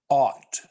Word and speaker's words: ought: by an infinitive and is pronounced ought with a wide o sound in the middle of the mouth ought it should feel